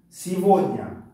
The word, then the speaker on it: сегодня: Сегодня дар мобаин, ҳарфи оба.